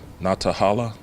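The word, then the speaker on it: Nantahala: to North Carolina - I think it's pronounced not to holla - where they get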